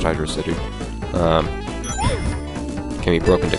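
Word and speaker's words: Hydrocity: tell you hydy and I'm pretty sure it's PR supposed to be pronounced Hydro city um can be broke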